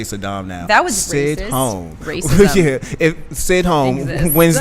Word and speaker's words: Sidhom: Sidhom, like Sidhom. Sydney, Australia, and sitting at home.